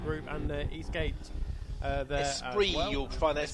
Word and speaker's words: Esprit: Unfortunately, he's just got, of course, got his sponsors there: Michael Jones Jeweller, Spirit Group, and Eastgate. Esprit, well. You'll find that's pronounced.